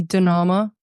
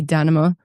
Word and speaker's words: Danama: I mean, I say Dama, other people say Danma.